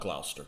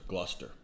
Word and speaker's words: Gloucester: um pronounce gloucester oh it's not gloucester gluster yeah whatever there he